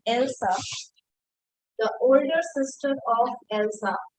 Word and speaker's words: Elsa: See, this the spelling is of else. If else was spelling same thing यहाँ पर, लेकिन Elsa इसको pronounce करते हैं, ठीक है? Because it is a name, so it can have a different pronunciation.